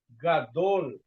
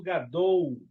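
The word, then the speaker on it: גדול: Gadol e não gadou. Tá. Muito cuidado com l.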